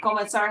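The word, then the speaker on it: comentar: better but anyway uh remember commentar has three syllables and so our second to last syllable is the middle it's not comen so the E here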